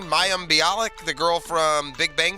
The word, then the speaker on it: Mayim Bialik: to be willing unfortunately right right but it's Miriam Bialik is how you say her name Mayim Bialik the girl from Big Bang Theory I guess